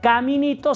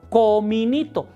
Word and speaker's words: cominito: Haz de cuenta que dijeras caminito, pero en vez de a di o. No caminito, sino cominito.